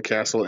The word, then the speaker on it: Kasl: website name is Sam castle imaging where you just go to sand castle comm and Castle is spelled like my last name kasl and I'm from San